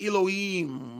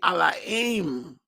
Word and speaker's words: Elohim: We use word like Elohim and Lord and God. It's not the way we're supposed to say it. What we call Elohim is actually Elohim.